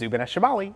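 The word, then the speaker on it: Zubeneschamali: some good ones okay above the Moon is zubaneshibali and below it is Zubin Al janubi yes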